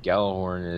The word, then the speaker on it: Gjallarhorn: The correct pronunciation of Gjallarhorn is Gjallarhorn.